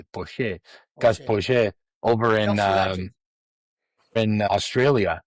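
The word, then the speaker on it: Poyet: Gus, give us the correct pronunciation. Poche.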